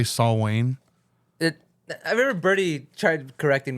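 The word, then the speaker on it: Samhain: Yeah, he was like, dude, it's Saul Wayne. Because he's a hardcore Misfits fan. No, dude. Danzig, everyone pronounces it Sam Hain.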